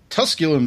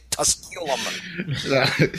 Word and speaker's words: Tusculum: Tusculum Street.